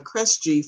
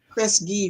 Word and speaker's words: Kresge: anything wrong with her you messed it up it's the christ keith kresge foundation chris gee foundation so um as soon